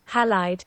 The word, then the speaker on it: Halide: I think it's halide because of silver halides, because that's like part of the emulsion.